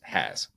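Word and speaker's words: Hasz: Everybody, just pretend that the Z doesn't exist. Just Haas.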